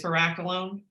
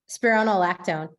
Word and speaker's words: Spironolactone: The question is, if you're on I don't know how to say it, spiraculone. Is that right? Spironolactone. There you go.